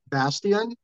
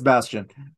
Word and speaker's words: Bastian: Bastian. It's Bastion. Technically, it Yeah, should be. It probably would be Bastian if my mother had decided to go with the full German pronunciation.